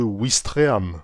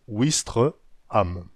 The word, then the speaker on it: Ouistreham: et parfois une voyelle dans certains endroits le w a disparu de l'écriture mais il est toujours prononcé comme un w nordique c'est le cas de ouistreham en normandie ouistreham wester